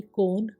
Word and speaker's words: cone: BONE बोन यानी कि हड्डी, CONE कोन, शंकु, DOME डोम, गुंबद, HOLE होल, छेद, MOLE